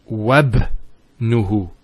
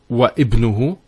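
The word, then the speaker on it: وابنه: we're actually reciting it, we don't pronounce this Hamza. We go straight to the ba. So it's wabnuhu. It's not wa ibnuhu, it's wabnuhu. It's like it joins the waw to the word ibn.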